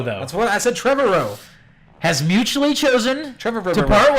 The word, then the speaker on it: Trevorrow: yeah sure yeah Colin Trevorrow Tribble oh that's what I said until early that with her words Trevor and Road Trevor row you have to say Trevor row that's well that's a Trevor row has mutually chosen Trevor